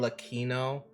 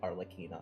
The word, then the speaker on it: Arlecchino: Now her actual name is pronounced Arle- Arlecchino, but I don't like that, Gino. so I call it Arlecchino because it sounds like cappuccino.